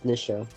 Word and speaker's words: Nisha: Oh, I do not say my own name wrong. Only Fisher and Lisha. It's Nisha.